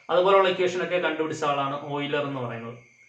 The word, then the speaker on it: Euler: കോച്ചി-ഓയിലർ നമ്മൾ പറയുന്നത് ഓയിലർ എന്നാണെങ്കിലും യൂളർ എന്നാണ് അതിന്റെ, നമ്മൾ സ്പെല്ലിംഗ് നോക്കി വായിക്കുമ്പോൾ യൂളർ എന്ന് നമുക്ക് തോന്നും. ചിലർ ഊള എന്നൊക്കെ പറയാറുണ്ട്. സോ കോച്ചി-ഓയിലർ എന്നാണ് വായിക്കേണ്ടത്.